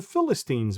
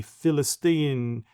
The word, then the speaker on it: Filastin: would choose originally, because it's hard to pronounce the letter P. That's why they're always Yeah. use the F, the Philistine in Philistinian, all of that.